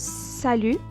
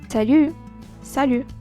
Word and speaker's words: salut: again to say bye but it depend of the way you pronounce it the way you uh express yourself while saying salute for instance when you're saying hi you say sal sal okay Sal but when